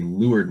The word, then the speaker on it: leeward: and then there's a lured mark it's spelled leeward but uh for some reason it's pronounced lured sailors were weird when